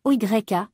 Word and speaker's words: olla: Dans le monde du jardinage, une Ola, également écrite OYA et prononcée OYA aussi, est un dispositif d'arrosage très simple.